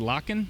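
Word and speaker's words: Lakhin: Davenport, Victor, I believe you say is it Locken?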